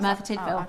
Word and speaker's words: Merthyr Tydfil: I just didn't It just It's spelled. I don't know if I've even said that. No, that is right. Merthyr Tydfil.